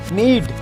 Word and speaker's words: knead: नीड के यहाँ पे साइलेंट है, KNEAD।